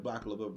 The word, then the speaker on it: baklava: 3 syllables. baklava. Did it say it correctly? Yeah. So baklava is excellent. We have 3.